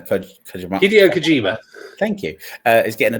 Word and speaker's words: Hideo Kojima: And Hideo Kojima, I can't pronounce his name. Kojima. Hideo Kojima.